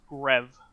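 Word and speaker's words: G.rev: on from that uh g g rev or as it's supposed to be uh pronounced rev uh but you probably wouldn't have known what grev was in unless i unless i said g rev um famous developer for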